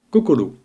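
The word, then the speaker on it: こころ: cas du candide suivant kokolo signifiant coeur le même mot se dit xing en chinois mandarin la prononciation des caractères emprunter désignant le coeur devient chine cependant en japonais pure on dira kokolo on aura la même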